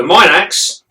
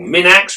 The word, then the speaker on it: minax: saying the uh the the minox or min axe whichever which way you want to pronounce it is a fasorial spider